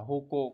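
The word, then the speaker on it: 矛: mâu của N1 nha chữ mâu này đọc là hoco có nghĩa là cái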